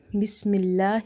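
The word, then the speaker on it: بسم الله: Before the letter lam in the word Allah, we have kasra, so we will read this lam light here. Bismillah, bismillah.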